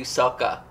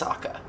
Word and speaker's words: Sokka: it back and do Sokka. Why did I say it like that? Sokka. It's Sokka. Also, I could be Gary Oldman from The Fifth Element.